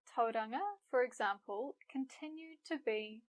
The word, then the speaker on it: Tauranga: From Te Reo Māori we have names like Mount Ruapehu, the Whanganui River, Lake Taupo, as well as towns like Tauranga, Whāngarei, Rotorua, and so on.